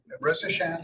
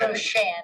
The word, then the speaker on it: Roshan: Rosashan, is that it? It's Roshan. Roshan, 2 syllables.